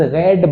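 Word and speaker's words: read: रीड की तीनों firm में स्पेलिंग तो सेम है लेकिन पढ़ते उसे रीड रेड रेड रेड newspaper is रेड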